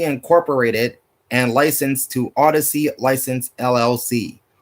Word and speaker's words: Audacy: WZGC is owned by Odyssey Incorporated and licensed to Odyssey License LLC. Odyssey is spelled Audacy.